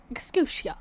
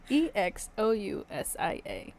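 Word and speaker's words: ἐξουσία: The only time the word authority, or get ready for this pronunciation, exousia. Spell it. Exousia.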